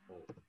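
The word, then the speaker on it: を: nah, jadi memang tulisannya nanti o ya. Karena juga nanti penggunaannya wo, tetapi kita membacanya o.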